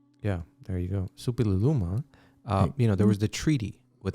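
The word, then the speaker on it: Suppiluliuma: Supililuma.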